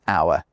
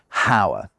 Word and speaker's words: hour: In English, the H in our has never been pronounced. It was never a how. Not only that, it was never pronounced in French either. So when we borrowed the word from French, the H was already silent.